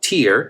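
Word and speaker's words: tear: It sounds exactly the same. In fact, the word lágrima, tier, T-E-A-R, and the word tier, nivel, I would say in Spanish, sound exactly the same.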